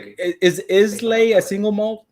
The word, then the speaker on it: Islay: All right, so I'm gonna say So- Islay. Is that how you say it? Isla. Isla. Isla.